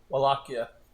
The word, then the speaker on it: Wallachia: Wallachia. There's no A on there. The Wallachs? No, it's pronounced Wallachia.